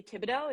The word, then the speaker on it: Thibodeaux: saying your name wrong Bailey Tibido is that right yes it's perfect crush it I actually